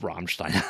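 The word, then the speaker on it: Rammstein: Um, of course, I also have Ramstein on here because of course I'm You got to say it like that. That's how he says it. Soundtrack is amazing. Roll the R.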